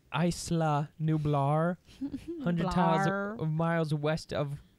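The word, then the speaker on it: Isla Nublar: books a telltale book know like the it's pronounced Eisler Nublar hundreds of miles west of oh I would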